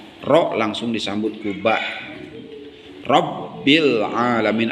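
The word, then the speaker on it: العالمين: Rabbil alamin. Al-alamin dalam qamariyah sama dijelaskan bacanya ini sifatnya rikhwah.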